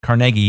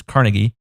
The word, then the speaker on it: Carnegie: there andrew carnegie that's right carnegie it's not pronounced carnegie it's carnegie what's funny is you used to say the